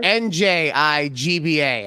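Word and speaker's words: Njigba: no I'm sorry Jackson Smith nigba n or nji GBA I'm not being racist that's how you say it that's why we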